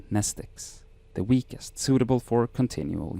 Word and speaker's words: mnestic: be impossible to remember nestic class WX Y and Zed same Greek root as the word pneumonic the m is silent in her bag her